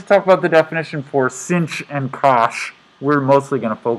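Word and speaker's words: sinh: sign the hyperbolic sine function and it is pronounced cinch which sounds really stupid to me i don't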